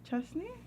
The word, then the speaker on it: Chastanet: Chastney? Yeah, that's how you pronounce it.